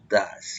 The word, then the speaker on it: does: Debe ser does, como dicen ustedes, o das, la pronunciación.